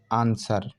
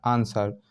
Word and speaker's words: answer: यदि एस के बाद डब्लू आता है तो वो हमेशा साइलेंट होता है। जैसे आंसर, ANSWER, आंसर।